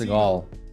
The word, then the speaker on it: Seagal: Pronounced Seagal.